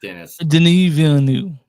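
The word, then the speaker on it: Denis Villeneuve: his name say it correctly I know it's Dennis denu thank you he made sure of a Dy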